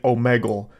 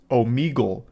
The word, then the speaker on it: Omegle: All the way back in high school, I was calling it Omegle. And only today am I realizing that it's actually pronounced Omegle.